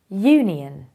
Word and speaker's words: union: this is pronounced as Union so although it starts with a vowel it is a consonant sound therefore you have to